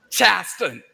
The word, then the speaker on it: Charleston: Gullah Geechee culture exists all around you as you walk about, dine, and sightsee throughout Charleston. Now, that's how Gullah Geechee speakers pronounce the word Charleston, not Charleston.